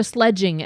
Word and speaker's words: sledging: Why do you guys say that? Why do you have to put a a soft G in there? Why is it sledging? That sounds That sounds harsh. I don't like it.